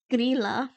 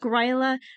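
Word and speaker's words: Grýla: So here is Grilla. That's how you say it. Grilla. Not Gryla, not gorilla. It's Grilla.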